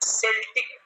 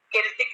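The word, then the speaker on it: Celtic: चलिए, तो इसे बेटा क्या पढ़ेंगे कविता, सेल्टिक, गेलिक, वो सॉरी केल्टिक नहीं पढ़ेंगे, क्योंकि सी के बाद ई आया तो सा प्रोनाउंसिएशन होगा, तो सी के बाद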